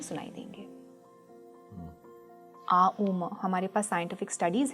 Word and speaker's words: AUM: मैं बोलूँगी कि वो आम है, ना कि ओम है। अब मैं जानती हूँ ऐसे बहुत स्कूल्स ऑफ थॉट्स हैं जो इसको कंटेस्ट करेंगे और मे be that's their way of seeing, but हम बोलते हैं कि हम आ उ म हैं, जो एक आ उ म, ये जो 3 सिलेबल्स आते हैं आ उ और म, ये आप एक म्यूट